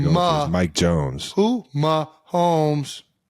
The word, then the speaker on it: Mahomes: Who Mahomes. It's 2 syllables. Starts with an M.